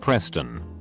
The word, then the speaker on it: Pristin: and kate mixed together her brother was named pristin pronounced preston kinda makes me wonder